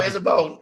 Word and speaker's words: Isabeau: It's Isabeau, like Isabeau in your hair.